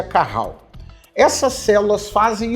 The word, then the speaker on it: Cajal: células de Carral cajal tá com J que pronuncia Carral essas células fazem o